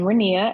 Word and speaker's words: Renea: introduce yourself yes I'm renia it rhymes with Korea I'm from Lexington Kentucky